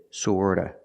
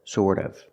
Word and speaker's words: sort of: Remember the T in sort of is pronounced with a fast D. Sorta, sort of, sort of.